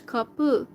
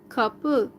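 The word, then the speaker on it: kapı: gate is couple but in Turkish kapu kapu like um that sound at the end is eye letter without the point above it so kappu is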